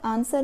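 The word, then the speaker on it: answer: कर लीजिए ठीक है आंसर में डब्लू साइलेंट है नो बहुत सारे बच्चे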